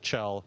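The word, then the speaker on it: Kjell: and Burke absolutely my my first name is Chell it's Swedish so it's spelled a little differently but Chell like c-h-e-l and then last name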